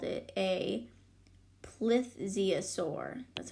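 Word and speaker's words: plesiosaur: Buckland called it a placeas sore that's how you pronounced that lift Ziya sore one day tre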